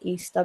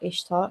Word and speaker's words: Ishtar: And then they've also got some pieces of, I believe it's pronounced Easter, but it's spelled Ishtar, Ishtar's Gate.